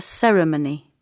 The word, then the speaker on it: ceremony: A ceremony. 4 syllables, a ceremony.